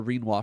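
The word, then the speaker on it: Rinoa: And I know that her name is Reinwa because that clearly remind it it rhymes with quinoa.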